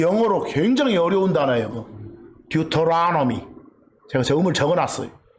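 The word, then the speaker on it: Deuteronomy: 듀토라노미. 제가 저음을 적어놨어요. 듀를 두라고 발음해도 돼. 또 혀 굴리기 좋아하는 사람들은 터를 넣으라고 해도 돼.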